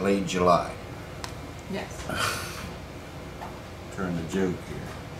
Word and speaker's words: Late July: chips or tortilla chips from latte jle most people pronounce that Late July yes turn the joke